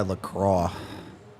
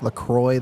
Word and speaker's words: LaCroix: Imagine losing to a team sponsored by LaCroix. LaCroix? Yeah. LaCroix, that's how they say it. It's wrong.